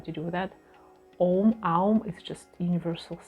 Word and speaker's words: Aum: So we don't say Om, we usually say Aum, so it's 3 syllables, 2 syllables, and humming,